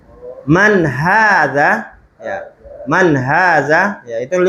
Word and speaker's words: هذا: Ya, hanya panjang ya. Oh, Itu namanya dalam kaidah la tuktab walakin tuntok. Dia tidak ditulis tapi diucapkan. Hanya panjang, ya. Nggak ada kan ditulis kan? Nah, jadi hanya panjang.